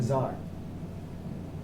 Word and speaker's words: czar: in- Czar. That. The T is silent.